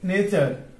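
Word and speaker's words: knee: যেমন কে N double E, এখান থেকে কে টা কি সাইলেন্ট, কি হবে সাইলেন্ট, আর উচ্চারণ হবে এন ডাবল ই এন, অর্থাৎ উচ্চারণ হচ্ছে নি, অর্থ হচ্ছে হাঁটু।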